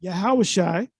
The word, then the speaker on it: Yahawashi: We know that Joshua or YAHAWASHI or Yeshua, we say YAHAWASHI. We believe that's the correct way of pronouncing it, is broken down into Yah, the prefix Yah for he, and YAHAWASHI just means deliverer.